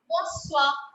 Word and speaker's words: bonsoir: In Bonsoir. French? Bonsoir. Bonsoir. S-O-I-R. Bonsoir. S-O-I-R. Bonsoir.